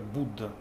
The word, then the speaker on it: Buddha: балка пробужденный или будда пишется пишется как будда но произносит обычно как будда будда он он пробудился